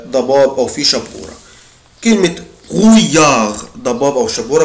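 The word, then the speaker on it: brouillard: او في شبوره كلمه برويار ضباب او شبوره بنطقها ازاي يا اولاد قولها بروي بروي برويار برويار المقطع ده بنطقه اوي اوي اويار يبقى برويار اليا تاني اليا دو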